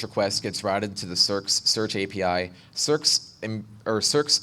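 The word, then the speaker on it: SearX: maintain so I stood up a copy of cerss uh it's by esimu it's spelled s e a RX it's an open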